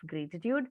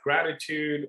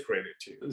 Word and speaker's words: Graytitude: And interesting about Graytitude, a lot of people either mispronounce it as gratitude or they say, what is Graytitude?